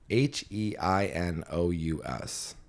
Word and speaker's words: heinous: H E I N O U S.